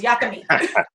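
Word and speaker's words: yakamein: delicious and it's called yucca meat spelled like y-a-k-a like maine but you know new orleans got to say it with that uh southern creole twang on it so it's yakimi love it love it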